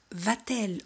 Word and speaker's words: Va-t-elle: Y aquí como el verbo acaba en vocal y el pronombre empieza con vocal, elle, colocamos una T para facilitar la pronunciación. Va-t-elle au cinéma?